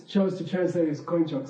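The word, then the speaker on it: དཀོན་མཆོག: So it should have been pronounced kunchok. But just because of some historical accident, this single word is pronounced koinchok.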